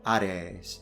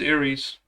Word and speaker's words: Ares: For instance, look at the Greek god Ares in classical. I thought it was Aries. Apparently, I was wrong this whole time.